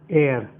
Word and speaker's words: heir: तो एयर भी लिखा तो एस से जाता है मगर एच इसमें साइलेंट होता है, तो आवाज इसकी यहाँ से शुरू होती है, एयर।